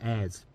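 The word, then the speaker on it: heirs: Scottish border after the owner died without hair airs I said hairs without hairs without hairs it is a ha but it's pronounced without it eight bedroom boom emilton Tower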